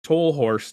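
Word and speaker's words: Tolhurst: famously uh i think lowell torres toll horst is how you say it tallerst is probably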